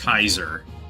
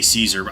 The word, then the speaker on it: Caesar: No got the pronunciation like etu, but you know in uh uh Latin it's actually pronounced Kaiser, but we we just say Caesar.